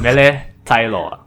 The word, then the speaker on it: Mele Taeiloa: Mele Taeiloa.